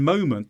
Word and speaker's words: moment: Notice as well in moment the stress syllable is mo, and in the second syllable the vowel becomes weaker.